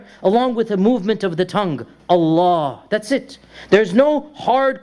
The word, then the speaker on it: Allah: Unless there's a kasra before it, then we say Lillahil hamd. Otherwise, Alhamdulillah. Or Allah, we say the heavy L. If there's a kasra, then we say Lillah, we make it light. Otherwise, when there's a fatha or a dhamma before it, we pronounce the lam as heavy.